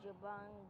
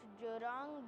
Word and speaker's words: Jurong: birds let's go to jabong bird bath so we reached the wrong bird park yes it's Jurong bird park I've been mispronouncing it this whole time and I didn't even know it so right now